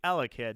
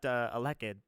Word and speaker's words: Elekid: So between Arceus and Regice, nobody can decide how to pronounce those two Pokemon's name. But I'm pretty sure we all agree it's Elekid, not Elekid.